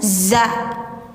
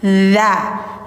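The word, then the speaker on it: هذا: Hati-hati jangan za jangan z tapi dza. Lidah ujungnya di ujung gigi atas kayak digigit tapi jangan ditekan. Tapi hanya menempel doang.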